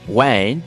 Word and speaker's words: wijn: Wine, wijn. Keep in mind that in some variants of Dutch, the W may be pronounced like oo, wijn, especially in Belgium.